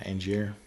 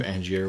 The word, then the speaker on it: Angier: And yeah, Angier.